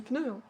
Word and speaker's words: pneu: Mais les gens qui disent pneu, ça se dit pneu. Pas pneu, hein.